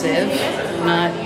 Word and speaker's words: Sieve: It's pronounced Sieve, not whatever the guy said.